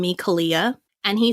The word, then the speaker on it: Kalia: k a l EA which in the English would be like okay Kalia but in Hawaiian it's actually pronounced CA which has a whole another set of meanings a whole another everything